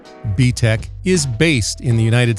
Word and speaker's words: BTech: join button below btec pronounced btec is based in the